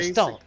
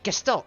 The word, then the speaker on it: Gestalt: You gotta say Gestalt. Gestalt. Oh, you just gotta say it with an accent.